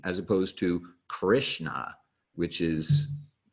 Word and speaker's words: Krishna: of your teeth you'll put the middle of your tongue up against the roof of your mouth and so it'll be a little farther back in your mouth mmm almost kind of